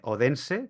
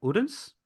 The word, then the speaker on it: Odense: sdu s derm University en odense que en realidad se pronuncia urens o algo así más o menos un